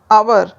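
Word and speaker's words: hour: लगाएंगे second rule है जिन शब्दों में एच साइलेंट रहता है तो उनसे पहले एन का प्रयोग होता है फॉर एग्जांपल एन आवर अब यहां पर आवर एच से शुरू हो रहा है जो कि एच एक कंसोनेंट है पर साउंड किससे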